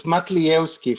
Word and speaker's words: Matlievski: And it's Matlievski for anybody who wants to know my surname. Okay, say that again, just slowly for everybody. Matlievski.